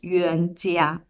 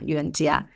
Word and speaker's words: Yuanjia: The key to pronounce my name is the letter J. I realized this you know recently because um in most of the language the letter J you pronounce as J but uh in Chinese the J is G.